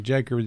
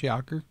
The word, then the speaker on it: Jaker: saying um call me Jacob just because they don't know no better because it's kind of spelled that way but it's pronounced Joker yeah that's so rude